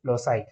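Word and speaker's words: loci: तो लोसाई हम प्रोनाउंस करते हैं इन the plural form, singular form में हम इसको लोकस बोलते हैं।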